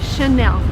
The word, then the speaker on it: Chanel: it's from friends so the correct way to say this word is Chanel and by the way